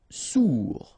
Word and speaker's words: sourd: Sourd, final D not pronounced, O-U together, ou, sourd.